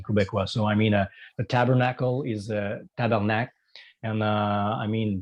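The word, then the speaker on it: tabarnak: So we instead of tabernacle, we say tabernac.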